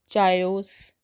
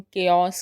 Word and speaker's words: chaos: CHAOS इसको हम चायोस, चाओस, काउस नहीं कहते हैं, इसको हम केओस कहते हैं।